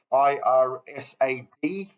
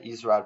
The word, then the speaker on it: IRSAD: Going back above, IRSAD. I usually pronounce this wrongly. I say ISRAD, but it's not ISRAD.